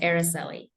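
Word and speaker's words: Aricely: and my first name is pronounced araseli great thanks everyone we're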